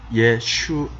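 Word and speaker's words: ישוע: 헬라어로 예수스 이고요은 이입니다 지금 히브리어로는 예슈 라고 발음을 합니다 그러면 그리스도는 무슨 뜻일까요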